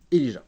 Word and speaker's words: Elijah: Mademoiselle, est-ce que votre nom se prononce Elijah ou Elia ? Elijah, très bien, bon à savoir.